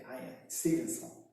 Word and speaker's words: Ian Stevenson: I-A-N, acho que é Ian Stevenson, escreve-se Stevenson, a pronuncia Stevenson, né?